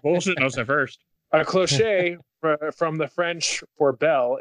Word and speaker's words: cloche: It's pronounced cloche, you fucking Philistine. I guess dinner tray silver does pull up an image of it.